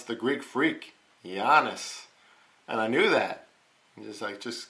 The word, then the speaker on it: Giannis: So Giannis, that's how you pronounce the Greek freak, Giannis.